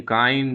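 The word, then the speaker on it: kind: वाज किंड to them किंड नहीं काइंड काइंड to them इतना टू मत खींचो काइंड टू देम काइंड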